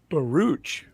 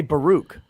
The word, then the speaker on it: Baruch: had yesterday some fantastic testimony from uh isaac barooch is how he kept saying it it does